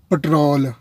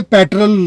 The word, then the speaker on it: پیٹرول: ایک لفظ ہوتا ہے پٹرول. گاڑی میں پٹرول ڈلوا دو، یہ موٹر سائیکل میں پٹرول ڈلوا لاؤ. دیکھیے یہ لفظ بھی ایبسلیوٹلی غلط ہے. یہ پیٹرول لفظ ہے.